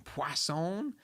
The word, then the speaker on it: Poisson: distribution but something called poisson disk distribution poisson there's no W in it but I was told that that's how you say it I guess it's French when we maximum I